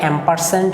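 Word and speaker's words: ampersand: হ্যাঁ, এটাকে কিন্তু অ্যান্ড উচ্চারণ করা হয় না। যারা আইসিটি নিয়ে কোডিং করে বা এই ধরনের HTML ওয়েব ডিজাইনিং শেখে তারা কিন্তু কখনোই এটাকে অ্যান্ড উচ্চারণ করে না বা আমরাও করি না। এই অ্যান্ডটাকে আইসিটির ভাষায় কি বলা হয়, অ্যাম্পারস্যান্ড বলা হয়।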